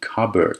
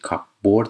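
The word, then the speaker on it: cupboard: کابرد نکنی کابرد تلفظش کابورد نیست.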